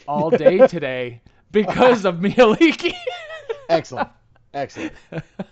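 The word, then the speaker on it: Mielikki: stuck in my head all day today because of Mialiki. Excellent. Excellent. But when I looked up Mialiki on the Forgotten Realms wiki, its suggested pronunciation was Maeliki.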